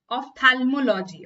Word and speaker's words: ophthalmology: It is the first one, ophthalmology. Okay, the H is pronounced very, very silently, okay? Ophthalmology. But it's a P, okay? It's not P.